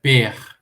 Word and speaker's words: pr: então os egiptólogos falam, joguem ali um ezinho para ajudar a pronúncia dessas palavras. Então, por exemplo, a palavra barco, né, DPT, torna-se DPET. A palavra casa, que é PR, vira PER.